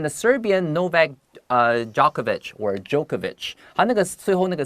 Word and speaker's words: Djokovic: 好，接下来就告诉你他跟哪些网坛好手有交过手、过招呢？Both the Swiss Roger Federer 有来自瑞士的费德勒，我们昨天有提到他嘛，and the Serbian Novak Djokovic or Djokovic，好，那个最后那个 C 很多人会念成 CH 的声音哦，因为他的名字本来就不是一个英文的名字嘛，对不对？这些像乔帅、乔科维奇这些厉害的好手 are among the best that he has ever played.